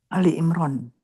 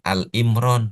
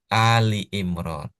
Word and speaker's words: Ali Imran: Ali Imran tuh bukan Al Imron bukan, tapi Ali Imran.